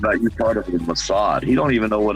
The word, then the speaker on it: Mossad: interpretation of the Mossad, that's how you say it, Mossad, not Mossad, Mossad. Get it straight.